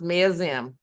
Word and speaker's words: Maoism: Maoism, it's pronounced Maoism.